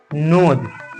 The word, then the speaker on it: nose: हो गया नोज, और ई का कोई उच्चारण नहीं होता है तो इसलिए ये ई नहीं लिखेंगे, ठीक है।